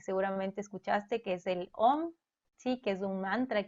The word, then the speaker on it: Om: Sí, Om es un mantra que está compuesto por tres sílabas. La primera es A, ¿sí?